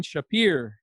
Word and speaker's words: Shappir: JavaScript story this week we're talking to Shapiro do you want to say hi yes hi and you actually pronounce my last name very well so thank